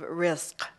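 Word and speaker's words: rizq: order to make sure that americans could never pronounce it correctly it's the concept of risk it's r i z q okay and it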